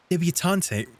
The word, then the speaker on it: debutante: Don't pronounce the e.